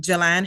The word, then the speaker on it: Jalan: today is September 2nd 2024 and I'm interviewing Jalan Harris on Zoom please introduce yourself what is